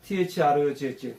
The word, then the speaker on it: through: 이거는 이제 저기 번데기 발음이라 그랬는데 이렇게 윗니와 아랫니로 혀를 살짝 물고 쓰루 해야 돼. 이렇게 한국말로 쓰루가 아니에요. 쓰루 이렇게 해요. 쓰루. 우리말이 없는 거예요. 쓰루 이렇게 해야 돼요.